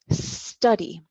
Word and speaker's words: study: the letter s remember do not add the e sound to the start of an English word that starts with the letter s so because you speak